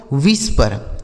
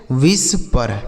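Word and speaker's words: whisper: विष पर। क्या पढ़ा जाएगा इसे? विष पर।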